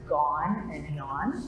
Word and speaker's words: Gagnon: It's Gone and Gnon. That's how you pronounce it.